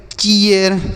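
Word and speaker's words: cheer: सी H double E आर इसे हम पढ़ेंगे चीयर क्या पढ़ेंगे चीयर P double E आर इसे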